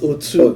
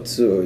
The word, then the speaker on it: Otu: It's pronounced Otu. Otu, yeah.